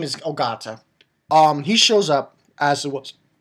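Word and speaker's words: Ogata: got his name wrong his name is not kensei it's oata and I didn't actually know about this so yeah thank you for telling me that so oata that's his real name hence he's the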